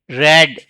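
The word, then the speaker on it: read: this epic was going to बी टू बी रेड spelling same रहेगी उच्चारण अलग है pronunciation is different रेड बाय आई का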